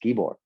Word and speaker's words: Gibor: live in Israel, and in my passport and my ID document, it's pronounced Gibor, and Gibor actually means hero.